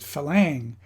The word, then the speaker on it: farang: are a lack of farangs contrary to to pie farang or as the thais tend to pronounce it falang is a term used